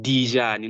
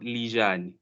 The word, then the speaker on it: Lijane: It's pronounced Dijani, not Lijani.